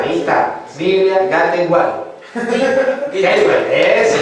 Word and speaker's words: Gateway: Gateway, eso, Gateway.